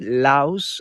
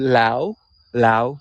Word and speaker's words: Laos: longevity like that so no s at the end of laos when it's pronounced yes it's loud there's